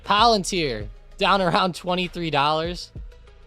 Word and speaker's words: Palantir: Palantir. Down around $23. It ends with an E sound.